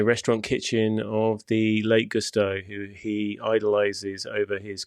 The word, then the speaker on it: Gusteau: Say it properly, Gusteau.